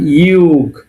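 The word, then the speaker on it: юг: এবং ফাইনালি শিখলাম ইউগ। আমরা ফাইনালি যেটা শিখলাম সেটাকে উচ্চারণটা কি হবে?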